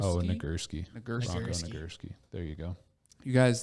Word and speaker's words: Nagurski: know don't know oh no i can't even pronounce it bronco nugger oh nagurski there you go you guys that that doesn't